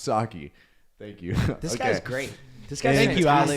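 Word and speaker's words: Saakhi: Oh, it's Oh, it says pronounced Saki.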